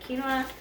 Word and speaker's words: quinoa: this cleanse um so i substituted quinoa um and that's pronounced q-u-n-i-o-a i believe something like that but it's not how it sounds um and then for